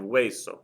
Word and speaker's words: hueso: And then we have hueso, hueso, which means bone. Hueso. That ends in a vowel. The stress is over the E on hueso, so there's no written accent mark.